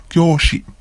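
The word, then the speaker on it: 教師: Kyoshi. Kyoshi. Again, another long vowel. Kyo. Kyoshi.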